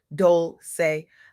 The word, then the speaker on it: Dolce: I'm your host, Dolce, pronounced dol-say, like sweet softness whispered in French.